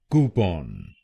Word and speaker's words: Coupon: तो बनेगा कूपन कूपन कूपन कूपन कूपन कूपन। और ये ध्यान रखिए कि हमको पहले शब्दांश पर यानी COU पर जोर डालना है।